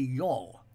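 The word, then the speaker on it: yawl: centuries and Ireland today and that is the y'all that's spelled y-a-w-l which is a small type of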